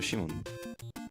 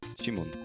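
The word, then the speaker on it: シモン: Because there's no C or Sai in Japanese. So Shimon. Shimon.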